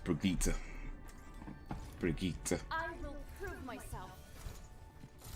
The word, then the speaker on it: Brigitte: That's how it's pronounced, Brigitte.